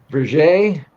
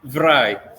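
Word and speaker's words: Vrije: He's a researcher and PhD candidate and he can help me with the pronunciation of the Vier University of Amsterdam. What how is this said? Oh, Verai.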